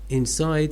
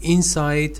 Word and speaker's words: inside: the um let's say stress pattern shifts to the second syllable oh yeah for example say the inside layer of that uh structure this is the adjective but when you say it is inside it okay here it